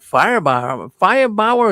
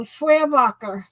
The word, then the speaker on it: Feuerbacher: And I'm going to tell you that Firebauer, is that how you pronounce his name? No, Feuerbacher. Feuerbacher. Yeah, no, in fact, I'll tell you, he really carried himself well.